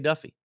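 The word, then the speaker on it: Daffue: And it is pronounced Duffy. It's not Diffuse or whatever you want to call it.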